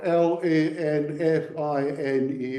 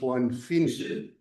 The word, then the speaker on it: Lanfine: This is one fine house spelled L A N F I N E but not pronounced Lanfine. is pronounced one fine right and the father-in-law of Robert Burns i.e.